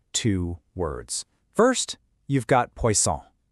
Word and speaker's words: poisson: First, you've got poisson. Hear that soft C sound? Poisson.